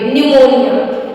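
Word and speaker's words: pneumonia: पाट pot next है rule number two अगर पी के बाद एस ई या एल आए तो पी साइलेंट होता है जैसे इसका सबसे बड़ा एग्जांपल है पी एन ई यू एम ई एन आई ए न्यूमोनिया जिसको न्यूमोनिया बोलते हैं इसमें पी एन के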